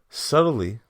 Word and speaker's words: subtly: to celebrate suck subtly it's crazy how that bee is silent is subtle subtly ass was her back